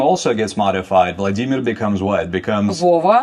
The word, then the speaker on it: Vladimir: So, in Russian would be Vladimir, like the stress would be different. That name also gets modified. Vladimir becomes what?